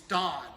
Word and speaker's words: Dan: Degree is dan. It's spelled Dan, D-A-N, but it's pronounced dan.